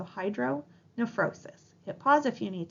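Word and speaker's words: hydronephrosis: term hydr nephrosis again remember that that pH sounds like an F in pronunciation so Hydro neosis hit pause if you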